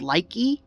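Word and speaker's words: Likee: little scissors i have this one app called likey uh it's spelled l-i-k-e-e it's basically like tick-tock but it's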